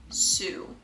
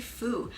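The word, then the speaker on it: Foo: I'm saying that right I always get her last name wrong damn it Stephanie Fu I don't know why I do that every time I talk about this book I say Stephanie Sue Stephanie Fu amazing book really good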